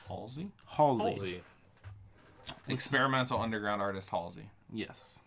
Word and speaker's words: Halsey: Halsey.